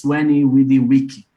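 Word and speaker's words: Veni, vidi, vici: Actually, if you want to pronounce it in Latin, it's Veni Vidi Vici. There was no E and no C, so the W.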